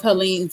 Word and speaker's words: Helene: So you guys, I'm going to actually show y'all some work, some of Helene's work. And am I pronouncing your name right? Is it Helene? Helene. Helene? Helene. Oh, Helen is fine.